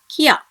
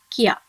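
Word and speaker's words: きゃ: Okay, this together should be pronounced as kya. Okay, when this ya is written smaller beside the consonant ki, you have to pronounce it together as kya.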